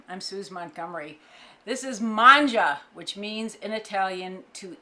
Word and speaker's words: mangia: sue's montgomery this is manja which means in italian to eat and as i explained before manja you're going mangia the way it looks like it's pronounced it's not it's manja it's italian for eat